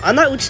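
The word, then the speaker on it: 穴内: の穴内と書いてね、穴内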